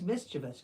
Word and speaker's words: mischievous: boy a little misus no he's mischievous because there is no vs in there mischievous mischievous great question